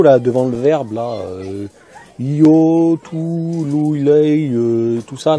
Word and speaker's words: io: Ils sont io. Prononcez pas yo, hein. Yo. Non. Io.